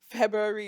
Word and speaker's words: February: move on to February February is the hardest month to pronounce the Fe spell it Fe f e b r u a r y that was really good I always fumble it no you just remember the r is there yeah I always miss